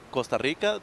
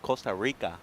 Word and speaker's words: Costa Rica: you one thing though Costa Rica they pronounce the r ra ra yeah like Costa Rica Costa Rica okay my and Ma